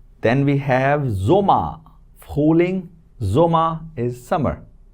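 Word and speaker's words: Sommer: Then we have zoma.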